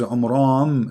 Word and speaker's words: Imran: is not Imran secondly he could not pronounce the name correctly of the father of Moses and Aaron because his name is Imran so the last letter is M not in so the foolish Mohammed